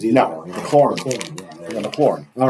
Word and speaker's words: McLaurin: I'm not good with pronouncing names either. No, McLaren.